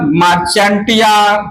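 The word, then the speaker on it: Marchantia: Mail मार्केंसिया अपना अपना pronunciation कर लीजिएगा, मार्चेंटिया जो भी है, अलग अलग लोग, ठीक है। मेरा प्रोनाउंसिएशन है मार्केंसिया।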